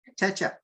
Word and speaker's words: Kotecha: Kotecha.